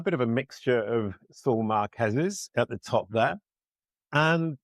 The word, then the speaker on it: Saul Marquez: I actually, for once, sang the name wrong. I usually sing it right and say it wrong. It's Saul Marquez.